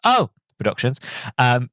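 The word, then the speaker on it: Oh! Production: You have to say it like that because it has an exclamation mark, so it's O Productions, who had worked with Ghibli on past projects.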